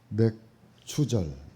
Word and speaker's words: 맥추절: 오늘 당일날 하게 되어졌습니다 맥추절 예 발음을 잘해야 돼요 맥추절 맥추절이란 하는 것은이 기독교